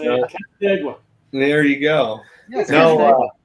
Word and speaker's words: Canandaigua: No, and I ain't gonna try to pronounce it, but I had a great time. I can say it. Canandaigua.